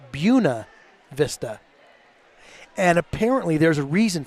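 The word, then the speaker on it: Buena Vista: there's several buav Vista but there they pronounce it bua Vista and apparently there's a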